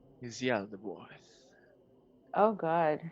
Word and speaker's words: Yaldabaoth: Its name is Yaldabaoth. oh god, how do I spell that? Yaldabaoth. Okay. Yep. Oath. Thank I just you. realized it's like Yal Dab Oath.